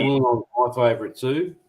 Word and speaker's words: Wollongong: Wollongong. That's the best way to pronounce it.